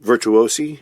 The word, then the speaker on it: Virtuosi: release on bridge records uh which is called virtuosi am I pronouncing that correctly that is correct okay uh